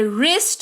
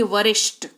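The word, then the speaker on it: wrist: तुरंत बाद आर आ जाए तो डब्ल्यू का उच्चारण नहीं किया करते। जैसे कि डब्ल्यू आर आई एस टी डब्ल्यू के तुरंत बाद है आर तो इसको पढ़ेंगे रिस्ट ना कि वरिष्ठ।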